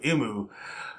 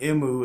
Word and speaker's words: Emu: It's cool how that is, you know, his name kind of sounds like the Japanese pronunciation for the letter M, you know, because they always say Emu.